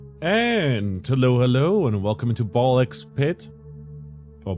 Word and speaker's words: Ball x Pit: And hello, and welcome into Ballx Pit. Or Ball Pit. You know, sometimes you don't pronounce the X, I guess.